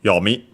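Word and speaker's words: よみ: Okay, accented on the first syllable, so yomi.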